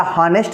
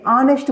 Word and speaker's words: honest: यहाँ पर देखिए H क्या है, H है साइलेंट, H साइलेंट है तो क्या हॉनेस्ट बोलते हैं, हॉनेस्ट बोलते हैं कि ऑनेस्ट बोलते हैं।